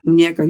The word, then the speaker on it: Muñeca: Muñeca? Yeah. Am I pronouncing it right? Muñeca, you right.